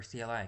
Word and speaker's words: CLI: This type of program has a command line interface or CLI. Command line interface. Command line interface which is pronounced like the first part of climb and rhymes with sky.